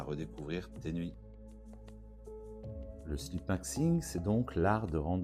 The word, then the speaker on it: sleepmaxxing: On prononce sleep maxing, c'est un mot anglais formé à partir de sleep, dormir donc, et maxing, qui vient de maximum.